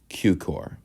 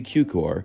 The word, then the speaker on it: Cukor: film, the artist, George Cukor. Yes, it is pronounced with a Q and not the Ku. Born as George Dewey Cukor from a Jewish-Hungarian family